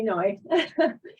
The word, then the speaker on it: Noi: again just call me noi and uh remember it rhymes with joy which is an easy way to remember it and Phoenix over 40